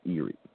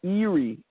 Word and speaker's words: Eri: In Hebrew, the pronunciation is Eri.